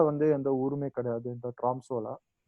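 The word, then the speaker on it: Tromsø: அந்த சிட்டியை தவிர பார்த்தீங்கன்னா பக்கத்தில் வந்து எந்த ஊருமே கிடையாது இந்த ட்ராம்சோவில். ஸோ இது இந்த ஓ மட்டும் கொஞ்சம் ஒரு மாதிரி அவங்களோட ஓ வேற மாதிரி ப்ரொனவுன்ஸ் பண்ணுவாங்க. அது எனக்கு ப்ரொனவுன்சியேஷன் இங்கிலீஷ் ஓ மாதிரி தான் நான் யூஸ் பண்ணுறேன்.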